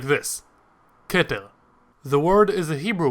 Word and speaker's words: Keter: The word that is on screen right now is pronounced like this, keter.